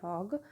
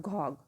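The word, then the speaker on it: Gogh: name was Vincent van hog though it is G over here it has been pronounced at hog not goog okay so it's been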